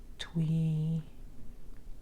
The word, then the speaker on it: Twi: And African languages spoken are Akan, Adangme, Moshi Dagomba, Ewe, Ga, Twi. I think they say Twi, but it's spelled Twi. But I'm not Ghanaian, so I could be saying it completely incorrectly, but it's one of the languages spoken there.